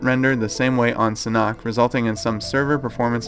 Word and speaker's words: Sanhok: giving me a lot of crap for saying San hook a lot of people say San hawk or cynic but it's Sonic SAH and ok is how you pronounce it